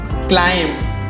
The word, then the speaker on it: climb: Climb. नहीं, it's climb. Climb. B इसमें भी silent होता है.